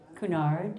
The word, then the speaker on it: Cunard: I'm like, come from cuz I have never been on a Kunard ship. Kunard.